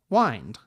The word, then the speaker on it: wind: rhyme with wind so previously the word wind was pronounced so that it rhymed with mind wind but over time the